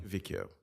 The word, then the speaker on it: Kavikio: Is it Kavicio or Kavikio? Kavikio. Okay, thank you.